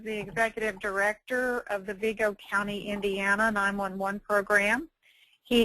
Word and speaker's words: Vigo: I'm the, as Mary said, the 911 Director for Vigo County. Some people pronounce it Vigo. It's kind of depending on the state that you're in or the area.